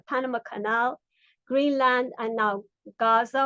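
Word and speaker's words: غزة: Trump is openly advocating imperialist expansionist campaigns and plans to take over the Panama Canal, Greenland, and now Gaza or Gaz as it's pronounced in Arabic, where he wants to push over two million Palestinians out of their homeland.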